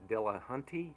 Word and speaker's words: Dillahunty: Um but being respective of the time here, I wanted to ask um and forgive me if I'm mispronouncing Matt's last name right, but but Dillahunty, is that how you say his name?